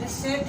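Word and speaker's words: receipt: आप फी जमा करवाते हो तो बाकी आपको मिलती है, वो रिसेप्ट नहीं है, वो आपकी रिसेप्ट है। ये बात याद रखें कि पी भी यहाँ पर साइलेंट होता है आपका।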